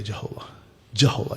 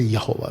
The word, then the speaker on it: यहोवा: जहोवा witness वाले बुलाते जहोवा, जे हम बुलाते यहोवा। राइट, जो सही उच्चारण है यहोवे, यहोवा।